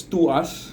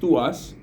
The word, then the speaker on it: TWS: they're called twws uh it's they're they're pronounced as to us you know twws pronounced to us and they are under